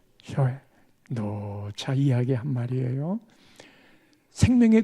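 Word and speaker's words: ζωή: 발음 한번 해봅시다. 푸시케, 푸시케. 또 하나가 조에, 조에.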